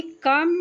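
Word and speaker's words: comb: आई कम my hair every morning before going to school, यहाँ B silent है, यहाँ कम means कंघी होगा।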